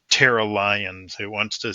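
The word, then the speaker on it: Tara Lyons: it it tends to not want to say Tera Lions it wants to say uh tar Leons and that's not how we pronounce our name so we have to spell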